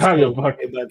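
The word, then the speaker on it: Qarabağ: Like I think see Salzburg, Lille, how do you say Karabakh, Carrier back. Galatasaray. Yeah, Karabakh. Yes, Karabakh.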